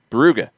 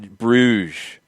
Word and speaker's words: Brugge: have across the board called it buuga it's been a hard G so what do they call it what do the what does the CBS crew call it buuga one more time buuga with a hard G not Brugge what what did I